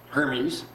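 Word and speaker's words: Hermès: Like herpes kind of, but Hermes.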